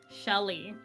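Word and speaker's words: Cheli: goes she goes by Shelly she goes by Shelly but it's spelled c h e l i Shelly so it's her actual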